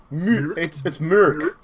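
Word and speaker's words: Mörk: It's Mork. Mork Borg. Yes, the M-O-R is pronounced like mur and murder.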